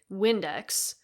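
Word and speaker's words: Vindex: I'm not even kidding, Windex. It's spelled with a V, but Latin pronunciation.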